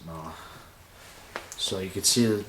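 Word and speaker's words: Mahle: These are Mala. That's how I pronounce it, Mala.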